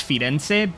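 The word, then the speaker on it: Firenze: we are now finally in Florence I know in Italian it's fense but I am not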